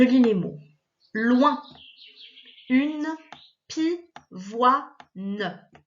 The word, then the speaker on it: pivoine: Loin, une, pivoine. Tu vois là, en fait, le O-I-N, il est coupé en deux. On a wa, ne.